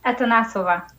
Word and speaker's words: Atanasova: How do you pronounce that? It's Atanasova.